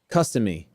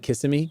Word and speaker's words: Kissimmee: As a native Floridian, it's pronounced Customy instead of Kissimmee.